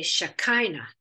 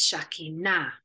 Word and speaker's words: Shekinah: And we get the word Shekinah, or we say in English, we put an emphasis on a different syllable. We say Shekinah, but in Hebrew, it's Shekinah on the end syllable.